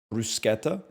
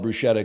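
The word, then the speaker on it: bruschetta: in the mid 2000s I know that it's pronounced brusketta but I'm just going to call it brushetta cuz I'm already sound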